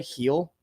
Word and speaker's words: Gil: Mikey over system play Gil pronounces heel by the way heel heel oh it's heel okay I didn't know that